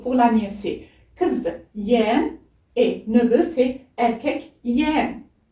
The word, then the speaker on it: yeğen: Yeğen. Dans la prononciation, le E vire au I un petit peu. Mais dans l'écriture, c'est yeğen.